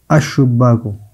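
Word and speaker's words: الشباك: الشباک لام کا تلفظ نہیں ہے، تو شین کیا ہے؟ یہ شمسی ہے.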